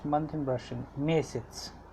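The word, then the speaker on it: месяц: Mesets. It's pronounced as mesets.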